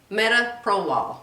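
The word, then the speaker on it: metoprolol: worst side effects of metaprolol i think that's how you say it metaprolol it's the pill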